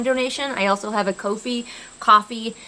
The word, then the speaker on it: Ko-fi: I also have a Ko-fi, coffee. It feels weird to pronounce it coffee, so I just pronounce it Ko-fi.